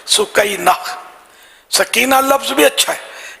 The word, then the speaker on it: سکینہ: تو یہ ہے اس کا اصل تلفظ سکینہ.